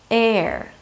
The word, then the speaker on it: heir: 'heir': and I don't mean the air we breathe or the hair on my head. I mean the heir to the throne.